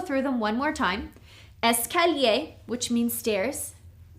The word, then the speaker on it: escalier: The first one is escalier. This means stairs, okay? Escalier. The second one is ascenseur. This is an elevator. Ascenseur, okay? Here we have 1, 2, 3, 4 syllables. Escalier.